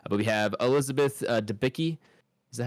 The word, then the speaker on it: Debicki: But we have Elizabeth Debicki.